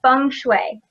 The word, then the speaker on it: Feng Shui: It is Feng Shui. Yep, you've got, Feng Shui, exactly. It's the Chinese language, so that's its Phonetically, heritage. it's a little bit confusing because it's spelled totally different.